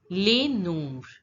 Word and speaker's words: les nombres: So in case of les, the last letter of the word S is not pronounced. And in this word nombre, the last letter of the word S is not pronounced. So we pronounce it as les nombres.